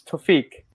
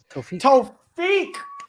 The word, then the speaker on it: Thofiq: It's Thofiq. Thofiq. There we go. Thofiq.